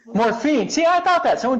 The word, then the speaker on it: Morfin: name is Angie Morphin how do you say their last name the right way because I know it huh it's morphine morphine see I thought that